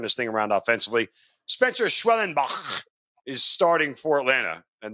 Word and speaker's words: Schwellenbach: Spencer Schwellenbach is starting for Atlanta, and that's how, it's actually how you say it, Schwellenbach.